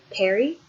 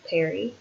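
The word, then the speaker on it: परि: The word is also peri, meaning around, about, or beyond. And it's also, interestingly, cognate with the Sanskrit word. Peri, it sounds the same, but is spelled P-A-R-I, meaning around, about, and through.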